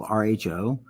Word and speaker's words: rho: It's spelled RHO, pronounced rho.